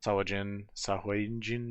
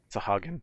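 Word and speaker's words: Sahuagin: Instead of having it mainly the ASMR and goblinoids that have been here, and then the Sahwajin, whatever, however you pronounce the Sahagin. Sahagin.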